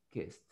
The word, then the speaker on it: kissed: La S no tiene vibración, entonces se pronuncia la ED que está a la par de la S como una T. Entonces dice kissed.